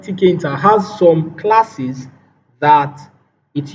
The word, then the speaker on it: tkinter: Now this inbuilt module is called tkinter. Tkinter. So it's pronounced tkinter, but it is spelled TK then INTER.